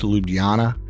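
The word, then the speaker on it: Ljubljana: head down to and I believe it's pronounced lubana uh Slovenia I've never been to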